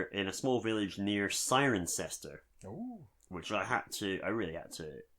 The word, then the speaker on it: Cirencester: be specific, we're in a small village near Cirencester, which I really had to, because it's spelled Kirkenkester. So, get involved. Who said English wasn't an easy language? So small village near Cirencester in England.